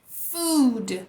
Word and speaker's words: food: Não existe no português. Food. Apesar de parecer muito, ele é mais longo.